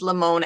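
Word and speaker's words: Limón: green lace bag and it says lamone l-i-m-o-n i think there's an accent on the o i think um you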